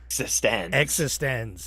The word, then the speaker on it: eXistenZ: cronenberg's 1999 film existence existenz is how you say okay I have to